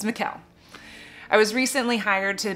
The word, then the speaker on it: Michal: hang of its pronunciation it's mikael it rhymes with michelle michelle michelle michelle mikel it's mikael i was recently hired